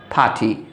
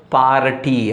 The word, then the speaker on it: party: After R, there is consonant, but not A-E-I-O-U vowels. So, R is silent. R is not pronounced. R is silent. So, generally, we say it as P-A-T-Y. Party.